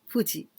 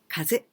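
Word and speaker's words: 風: Maybe you know this one just like a red Fuji, Aka Fuji. But original title, Gaifu Kaisei. Well, this second kanji, fu, you can also pronounce kaze.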